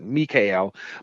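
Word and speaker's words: Michal: mikhail you know her it's pretty it's spelled michael but mikhail but how she was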